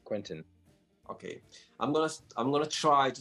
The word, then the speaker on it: Quentin: In France, it's Quentin, but most Quentin. most most English speaking or even Spanish speaking countries will pronounce it Quentin.